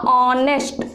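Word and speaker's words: honest: अब आप बताइए कि ऑनेस्ट तो एच से स्टार्ट हो रहा है, लेकिन जब इसे प्रोनाउंस करेंगे तो ये क्या लिखाएगा, प्रोनाउंस करने के बाद ये लिखाएगा ऑनेस्ट, ऑनेस्ट, ऑनेस्ट मैन।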